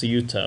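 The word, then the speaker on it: Ceuta: in SAA which Isa how do they sauta okay they pronounce sauta okay so which is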